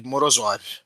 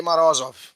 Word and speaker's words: Morozov: né curiosidades inúteis e Eu sempre chamei de morozov e aí descobri que é morosov é kenzov é como ele pronunciou o próprio nome mas aí o pessoal